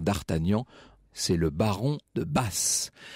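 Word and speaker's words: Batz: c'est le baron de basse alors qui est ici s'écrie béate et z qui est imé on prononce basse partie de ces curiosités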